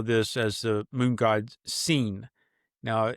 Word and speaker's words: Sin: as the moon god seen. Now it's spelled like if you were to spell the word sin s i n but it's pronounced seen as if I have seen something.